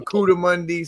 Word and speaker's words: coatimundi: codamundi, Zach. It's a codamundi or a cudamundi. Some people pronounce it Cudamundi. different ways, right?